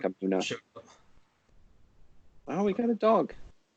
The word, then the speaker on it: Amunet: Yeah, people say Amunet, but the U vowel is actually coming from the Coptic pronunciation of Amun. So it's that name Amunet is a blend of both pronunciation systems, creating just even worse nonsense than either one of them alone. And it would probably be something like Amuna.